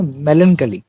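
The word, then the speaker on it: melancholy: अब देखिए ये जो वर्ड आया है मेलनकली, इसे प्रोनाउंस करते हैं ना मेलनकली, और इसका मतलब होता है उदासी या शोक।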